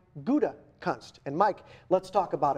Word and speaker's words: Gutekunst: That would be the Gouda cheese, or shall I say the Gutekunst cheese, right? If nothing else, once and for all, that'll teach you how to say the Packers' new general manager's name. It is Brian Gutekunst.